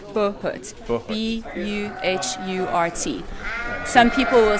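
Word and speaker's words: buhurt: Our whole focus is on training people in armor for Bahut and for pro fights. So I understand, Bahut is basically not one-on-one, No. it's everyone above. It's team fighting, yeah. And it's Bahut. Bahut.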